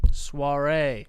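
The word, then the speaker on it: Saoirse: Ah, it's spelled like s ao i r s e. Suare.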